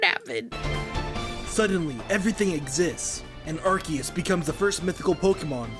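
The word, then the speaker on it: Arceus: Arcade. No, it's Arus. I know it's Archus, but I'm going to say Arus.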